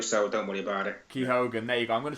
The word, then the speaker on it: Keoghan: think I'm the only one who gets your surname wrong no most people do so don't worry about it ke Hogan there you go I'm gonna try and remember